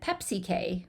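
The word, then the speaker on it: PEPCK: PC okay and then Pepsi K we call this like the soft drink Pepsi K is how you sort of pronounce that and we're going to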